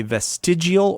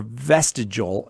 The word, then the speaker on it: vestigial: to pronounce this word you could say vestigial or vestigial and people say it two different ways i'm gonna say vestigial but uh barry wants